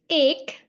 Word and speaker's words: એક: 1 in Gujarati is ek.